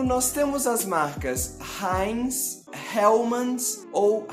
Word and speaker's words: Hellmann's: mas mesmo assim em nomes de algumas marcas estrangeiras nós pronunciamos a letra h mais ou menos da mesma forma que ele é pronunciado no idioma original daquela marca por exemplo nós temos